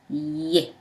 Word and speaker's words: ي: But this one is ye. B pronounced as B, but ye pronounced as Y.